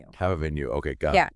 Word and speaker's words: Havamenu: It's pronounced Have a Menu. Have a Menu.